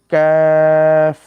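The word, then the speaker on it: قاف: তা উপরের তালুর সঙ্গে কাফ বলে। আমরা সকলে বলি কাফ কাফ এভাবে উচ্চারণ হবে।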